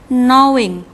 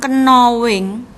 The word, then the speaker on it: knowing: ini wadah huruf tanya tapi kalau dibaca huruf k ini thailand atau tidak terbaca hanya diam jadi membacanya knowing bukan knowings knowing knowing ya ada jam